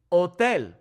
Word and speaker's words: hotel: Hotel. Okay. Notice how the H is silent here.